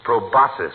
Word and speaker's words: proboscis: run one right on his big fat robot proboscis means nose doesn't it doctor it's proboscis my boy ah the sea is silent like a husband in a military shop